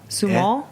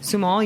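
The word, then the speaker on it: Sumoll: grape It's s u m o l l sumal oh okay sumal yeah yeah so I'm really into that you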